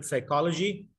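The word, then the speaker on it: psychology: البي ديت موجوده في الكلمه كتابه، ولكن اهل اللغه الانجليزيه ما بنطقوهاش خالص، سواء بريطانيين او انجليز او بتاع ده امريكان او استراليين او اي نيتيف سبيكر اوف انجلش، لو كتبت له كلمه سايكولوجي، طب يا جماعه هي بتتنطق سايكولوجي، يعني البي ما بتتنطقش اصلا، انت بتكتبها ليه؟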